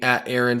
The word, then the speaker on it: Arend: Instagram @ Sirus social club and follow me Aaron my name is spelled a r n d it's a